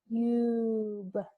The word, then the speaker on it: tube: Now on the last word, I see sneaky silent E on the end. And that's going to make the U long. The U is now long. Tube. Tube. It sounds like an ooh.